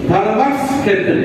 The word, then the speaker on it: ধর্মক্ষেত্রে: ধর্মক্ষেত্রে কুরুক্ষেত্রে। ওটা সংস্কৃতে যখন উচ্চারণ হয় তখন ওটা ফিওটা উচ্চারণ হয় ক যুক্ত পেটকাটা মধ্যস্বর মধ্যস্বর। ধর্মাক্স ক্ষেত্রে সংস্কৃত উচ্চারণ করতে হয় ধর্মাক্স ক্ষেত্রে।